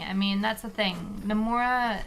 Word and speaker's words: Nomura: Nomura has, or Nomura, I guess is the right way to say it. Nomura.